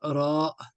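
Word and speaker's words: ر: donne pas la main son nom c'est RA le RA en début tac il ne donne pas la main une lettre de lettres milieu le rat final le rat hop et on n'hésite pas quand même à vraiment euh le faire descendre hein et il se prononce r alors comment il se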